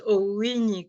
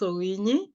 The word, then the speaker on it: Owinyi: Yes, you pronounced Owinyi correctly. And yes, that is how we pronounce Owinyi.